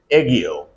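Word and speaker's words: aegyo: The pronunciation is ego. Eio.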